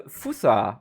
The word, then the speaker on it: fossa: in the intro the fusa or fossa I don't know I will most likely say fossa throughout this video as is the German yeah the German pronunciation and I know it's fusa in English which always confuses me